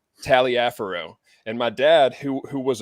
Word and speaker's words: Taliaferro: It's spelled Taliaferro, which may be French. Some people call it Tolliver. I've always called it Taliaferro.